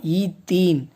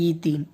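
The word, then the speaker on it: ethene: ஈத்தீன். Pronounce பண்ணுறது அப்படி தான், ஈத்தீன்.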